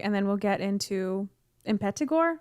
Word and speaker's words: Impetigore: then we'll get into impetigo is how you say it yeah i've heard it said in pedigo like almost they say the t like a d but who knows i